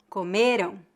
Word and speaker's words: comeram: é exatamente a mesma A única diferença de pronúncia entre as palavras comeram e comerão é a sílaba tônica vamos passar ao último